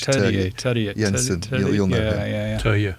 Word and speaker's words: Terje: And it was a guy called, I'm going to pronounce his name wrong now because it's not Turge, but it's spelt Turge. Terje Jensen.